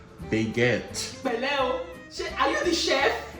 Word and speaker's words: baguette: It's pronounced baguette.